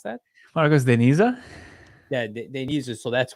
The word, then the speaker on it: Marcos de Niza: How do you pronounce that? Marcos de Niza?